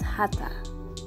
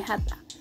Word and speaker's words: have to: Here, I want to give the information that have to also pronounce hata.